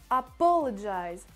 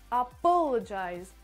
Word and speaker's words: apologize: est ce soit zte et pour l'accentuation ça se fait sur la deuxième syllabe donc sur le pot apologize apologize apologize voilà voilà comment ça se prononce troisième catégorie deux mots